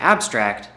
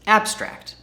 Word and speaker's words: abstract: There is a pronunciation difference between these two. To abstract, verb, versus abstract, noun. The top, to abstract, and abstract. To abstract, abstract. To abstract, abstract. Hear the difference?